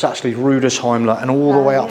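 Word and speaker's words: Rüdesheim: see where they actually end it, and it's Rudesheim. It's actually Rudesheim, and all the way up through the Rhine Valley.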